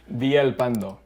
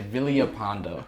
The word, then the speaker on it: Villalpando: Villalpando. Okay. Yeah. I always say Villalpando. That's wrong. Okay, that is wrong.